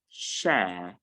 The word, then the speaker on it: share: the sounds bear affair share and bear that's how you pronounce just words so if you see these words for example the word s h a r e it is not pronounced she i noticed that a